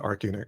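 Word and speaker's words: ArchUnit: page we could do AR Arch unit or Arc unit let try to pronounce that one um I pronounce it Arc unit because I figure it's the first four letters in architecture ah um we could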